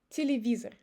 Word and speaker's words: телевизор: As you see, I don't say телевизор. I change Е to I and O to E. Телевизор.